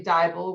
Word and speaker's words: Dybal: uh humans charlie and tanya dybal which rhymes with bible and he is the